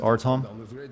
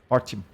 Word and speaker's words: Artyom: Artyom is actually pronounced Artom. You say the Y so fast that it sounds like it's not there. Artyom.